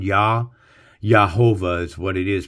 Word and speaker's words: Jehovah: for it it's not Jehovah the J is silent it's yahovah so it almost makes like an H sound and this here is